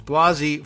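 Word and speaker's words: Blasey: Brett Kavanaugh and Christine Blasi I understand the pronunciation is Blasi Ford will appear I don't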